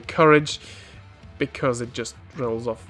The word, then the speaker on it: Courage: the courage team itself which I think is pronounced kurage because it's a French team but for the sake